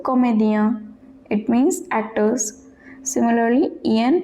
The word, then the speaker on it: comédien: Do comédien, IEN pronounced as ien. So comédien, it means actors.